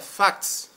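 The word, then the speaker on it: facts: los hechos acuérdense que en inglés hechos se pronuncia fax no significa eso en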